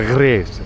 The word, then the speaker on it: Grasse: طبعا تنطق الجي والآر إذا صاروا بالفرنسي ينطقونها غريس كذا، غريس.